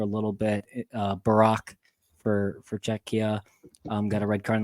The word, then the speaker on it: Czechia: Czechia. I heard you trying to pronounce that last.